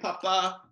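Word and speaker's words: พ่อ: The Thai word for dad is pa, kun pa.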